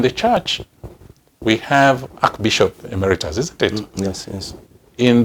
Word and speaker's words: emeritus: public service emeritus actually it is a latin word and it is pronounced the way it is written emeritus yes it is supposed to be but people have anglicized it to be emeritus now in the church